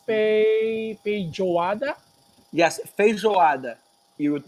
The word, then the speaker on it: feijoada: that I see that it's baby Giada yes feijoada you would pronounce it takes water quite fluffy Giada feijoada